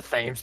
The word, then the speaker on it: Thames: It was, well, Oh, Thames is pronounced without the H. I didn't know that. Yeah, it's weird. Wait, so like Thames? Like the Thames River.